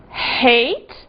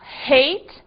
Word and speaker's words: hate: aprovar aproveitar herói Hero e cuidado aqui com o seguinte heit ódio ou odiar que se não for pronunciado o h pode dar uma confusão e virar o passado de eat que é ate aí fica o passado de comer não é Cuidado hate Eight temos mais exemplos R